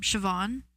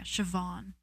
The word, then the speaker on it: Siobhan: Um, Siobhan, but it's spelled S I O B. Either HAN or A N. Um, yeah, Siobhan.